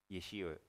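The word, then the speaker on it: Yeshe: Yeshi. That's how they spell it.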